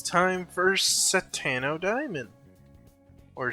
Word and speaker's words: Satono Diamond: Today is the 22nd of March on a Sunday, so that means it's time for Satano Diamond or Satono Diamond as it's usually pronounced in the game.